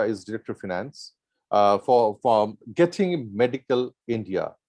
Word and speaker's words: Getinge: Nirmal Shah is Director of Finance for Geting Medical India. Geting, am I pronouncing it right, Mr. Shah? It is Geting A, Geting. It's getting. Getting. Getting gay.